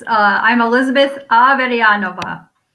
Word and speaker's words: Averyanova: so much michelle so it's uh i'm elizabeth avedyanova it's my husband my russian husband's last name